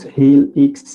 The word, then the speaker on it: Healx: You could go online and put Helix in Google. So that's spelled Healx.